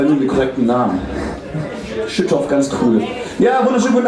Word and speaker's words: Schüttorf: Schüttorf, ganz cool.